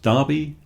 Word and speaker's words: Derby: That is the history of why big sporting events are called derbies, pronounced Derby to rhyme with Barbie.